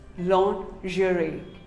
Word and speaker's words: lingerie: commonly mispronounced word lingerie well most of us call it lingerie no it is not lingerie it is actually called lingerie say lingerie long jury what do you call